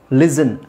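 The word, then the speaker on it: listen: ಲಿಸನ್ ಲಿಸನ್ ಅಂದ್ರೆ ಕೇಳಿಸಿಕೊಳ್ಳುವುದು ಲಿಸನ್ ಲಿಸನ್ ಟು ಮೀ ಲಿಸನ್ ಲಿಸನ್ ಅಂತ ಹೇಳಲ್ಲ ಲಿಸನ್ ಓಕೆ ಹಾಗೆ ಇದು ಸಾಫ್ಟಫನ್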